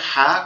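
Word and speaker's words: ح: এরপরে হা। কোন নোক্তা থাকবে না। কাচের মত দেখতে কোন নোক্তা নাই। হা একটু গলা আওয়াজ চেপে। ফ্যাসফেশির মত আওয়াজ হবে। হা এরকম ভাবে।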